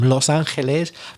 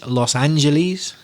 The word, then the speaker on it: Los Angeles: say you see already we're talking about pronunciation not being the same Los Angeles but in English Los Angeles San Francisco if you're